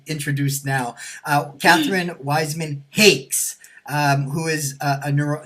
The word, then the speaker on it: Hakes: humor I always say it rhymes with chocolate cake with an h and an s on the end there go I I